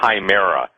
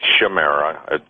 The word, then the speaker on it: chimera: belief system deals with this but the word chimera some people pronounce it shamera pronounce Chimera Chi m e r a obious